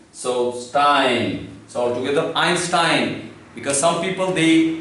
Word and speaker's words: Einstein: So Stein, So altogether Einstein, because some people they pronounce it Einstein, so that's not the correct one.